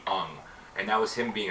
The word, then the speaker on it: Aang: The proper Japanese pronunciation of Aang would be Ung, and that was him being a dick.